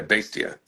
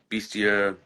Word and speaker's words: Bastia: No, that's just how like it's someh some people say uh Beastia say uh whenever I heard him say his name, he was like uh he said bastia. So, I wanted to make sure that whenever I say it, I always say it the way he says it.